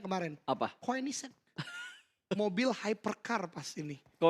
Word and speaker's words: Koenigsegg: Gua baru tahu cara bacanya kemarin. Apa? Koenigsegg. Mobil hypercar pas ini. Koenigsegg.